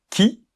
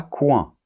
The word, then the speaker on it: qui: qui autre exemple quand donc attention la lettre U ne se prononce pas on doit dire qui quand et pas qui ok on est bien